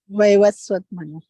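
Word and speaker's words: Vaivasvata Manu: I think the current Manu is, I can't pronounce it right. Someone may help me. Vaivaswata. Vaivaswat Manu.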